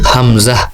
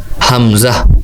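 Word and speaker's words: همزة: এর উচ্চারণ হবে হামজাহ এভাবে। আবার বলছি হামজাহ।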